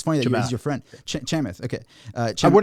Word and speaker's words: Chamath: I always pronounce his name wrong, but it's funny that he's your friend. Chamath.